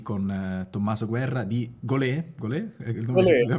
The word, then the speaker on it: golee: di essere qui con Tommaso guerra di gol gol la pronuncia corretta adesso Gi l'ho indovinata gol è